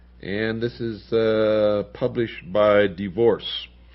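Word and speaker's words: DeVorss: And this is published by Divorce Publications. That's spelled D-E-V as in Victor, O-R-S-S.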